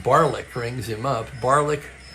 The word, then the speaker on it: Barlick: Barlick rhymes with garlic so he can't be all bad.